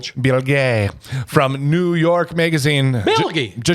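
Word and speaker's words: Bilge: Bill Gay from New York magazine.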